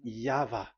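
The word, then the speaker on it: Yahweh: It is V. Y H VH. So it is Yava.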